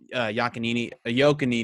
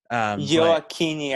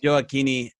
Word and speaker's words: Gioacchini: I think I'm saying it wrong. Gioacchini, I believe it is. Gioacchini in the squad, but I mean, this is Greg Berhalter, right? It's an Italian name, so I probably should have been saying it like Joe